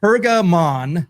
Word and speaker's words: Pergamon: Let me let me pronounce this correctly. Pergamon.